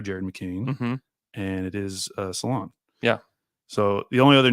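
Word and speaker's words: Salaün: if you saw that they had it as s- laon like Salon Salon yeah that's definitely the American way to say it salon which I feel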